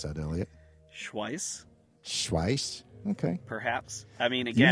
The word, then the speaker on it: Schwyz: So one of the cantons was called Schwyz, and I'll spell that and then clean off my microphone. But it's SCHWYZ. Schwyz. Schwyz. How would you pronounce that, Elliot? Schweiss.